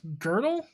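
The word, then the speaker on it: Gödel: as a side note there is an uh umelot two dots over the o in his name and is pronounced girdle oh you know how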